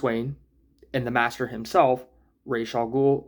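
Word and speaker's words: Ra's al Ghul: and the master himself, Ral Ghoul or Razal Ghoul. I'm just going to say R. Uh, but I believe that is the Hebrew saying and not the Arabic saying. Please correct me if I'm wrong. And I believe the Arabic way is razul.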